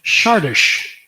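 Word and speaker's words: Csárdás: And this is a well-known tune in the classical literature called Sardis.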